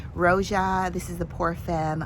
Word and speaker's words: Roja: And that's Roja. I didn't say it right. Roja.